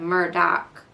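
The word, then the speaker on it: Murdaugh: the podcast the murder Murdock murders podcast but Murdock is spelled like murder if you're trying to look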